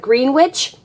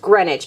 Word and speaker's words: Greenwich: we're in greenwich village even though it looks like green witch green witch it's actually just pronounced greenwich and this place is